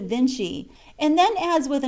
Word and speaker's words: Vinci: own tongue he says they spell the name of their great painter Vinci but pronounce it Vinci and then adds with